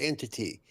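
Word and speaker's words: NTT: for the new game is called the NT program pronounced entity.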